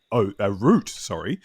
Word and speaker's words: Root: You only like Root. I think it's one syllable.